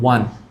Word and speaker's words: won: WON শব্দটাকে অনেকে ওন বলে, আমিও বলেছি। এই তো মনে হয় কত 3-4 বছর আগে ঠিক করেছি উচ্চারণটা। আমি বলতাম ওয়ান, সরি ওন হবে ওয়ান, ওয়ান এক, যে ইংরেজি একের ওয়ান, ওইটাই সেম ওয়ান।